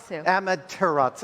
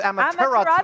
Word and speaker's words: Amaterasu: And finally, Amaterasu. Amaterasu. I missed a Whoops.